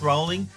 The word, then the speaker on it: Rowling: And I have seen a note that someone says, "Isn't Rowling pronounced rolling?"